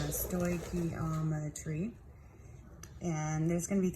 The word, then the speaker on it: stoichiometry: notes for general chemistry, and this is Stoichiometry 101, and this is just an introduction to the discipline of stoichiometry. And I wrote this out right here. This word is pronounced stoichiometry, and there's going to be 3 parts to these notes.